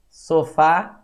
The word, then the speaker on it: sofá: a palavra sei lá sofá sofá a sílaba tônica é a última logo nós temos palavras